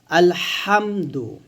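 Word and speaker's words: الحمد: যাই হোক এখানে হচ্ছে হা। আলহামদু। এটা হচ্ছে হাটা হচ্ছে গলার মাঝখান থেকে চাপ দিয়ে চিকন করে বলতে হয়।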